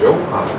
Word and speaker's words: Johann: Sweet Johann. Jakob. Jakob? These J's are pronounced like Y's, by the way.